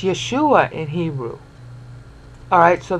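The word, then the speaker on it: ישוע: here this is Jesus e yeah soos three syllables so classical Greek speaker but it's Yeshua and here ooh alright so that's yes two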